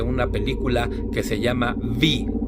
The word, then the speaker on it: Viy: Hoy vamos a hablar acerca de una película que se llama Vi o Viñi, como se pronuncia en ruso.